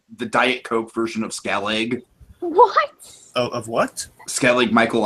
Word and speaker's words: Skellig: however you pronounce it we said skelling just for short before I said was a little lost that was Skellig I don't know all right